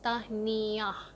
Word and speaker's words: Tahniah: It's I don't know if it's 2 syllables or 3 syllables, Tahniah, but you say it really fast, like Tahniah.